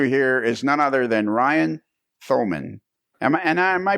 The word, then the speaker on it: Thoman: So that voice you hear is none other than Ryan Thoman. Am I and am I pronouncing that right? Is it Ryan? Yeah, Ryan Toman. Toman? Toman, yeah.